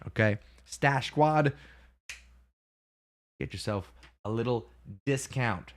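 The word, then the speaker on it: Stache Squad: check out type in stash Squad s-t-a-c-h-e-s-q-u-a-d two words stash squat stash spelled like the mustache okay stash Squad get yourself a little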